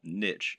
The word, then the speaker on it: niche: reason we call it a niche or niche as some people pronounce it when talking about an